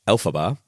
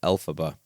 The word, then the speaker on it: Elphaba: pronounce, the Wicked Witch Elphaba, was created by taking the phonetic pronunciation of the original Wizard of Oz author, L. Frank Baum's initials, LFB, which became Elphaba, which I wish I'd